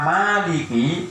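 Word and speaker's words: مَالِكِ: Adapun hurufnya Fatihah yang diucapkan semua beserta basmalah dan tasydidnya itu ada 155 dengan membaca maliki dengan dipanjangkan ada alifnya maliki.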